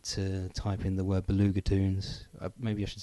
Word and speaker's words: Belugatoons: t double o NS so blue ger as in beluga whale or blue caviar and toons as in short for cartoons it's not actually toons